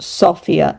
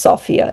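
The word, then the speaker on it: Sofia: Sophia is pronounced Sophia, not Sophia. Sophia. And a lot of people call it S Sophia. Um, it's pronounced Sophia.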